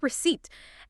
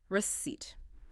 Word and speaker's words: receipt: Receipt. As we said, the p is silent. Receipt.